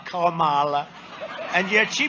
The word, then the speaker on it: Kamala: pronounce your name right it's kamala like a comma kamala and yet she pronounces